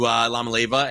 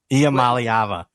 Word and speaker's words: Iamaleava: I kind of like them going away from Joe Milton to Lamaleva and I mean, how do you pronounce his name? Lamaleva? Iamaleava. Iamaleava.